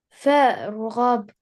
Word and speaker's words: فارغب: فارغب Again, فارغب fa, ra, fatha. This alif in the middle is silent.